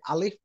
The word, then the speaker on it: alif: Alpha the Arabic letter they call it pronounce it alif is actually the Alpha from the Alpha